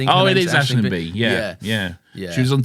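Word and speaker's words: Aisling Bea: She's I think it's pronounced Ashling B, I think. Oh, it is Ashling B.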